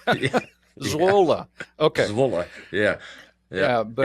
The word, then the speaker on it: Zwolle: They have one they call Zwol. Did I pronounce that correctly? Yeah, it's a town at the east side of the Netherlands, and that is called Zwolle. Okay.